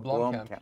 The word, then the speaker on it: Blomkamp: No, Blomkamp.